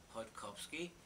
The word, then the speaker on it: Chodkowski: I guess, as I was told, that of course the Polish pronunciation is Chodkowski. Mhm. It depends on what side of the Atlantic you're sitting on.